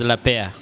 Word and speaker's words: Lapaire: Yeah, the right word is Lapaire. Lapaire, just as it is. Exactly, meaning a pair. La means the, then pair, the pair.